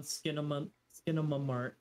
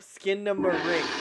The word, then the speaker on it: Skinamarink: Jocii, what is your thoughts on Skinamamart? Yeah, you said it wrong. Skinamamart. You know, you still didn't say it right. No, say it again. Skinamart. Nope. Skinamamart. Nope. Skinamarink.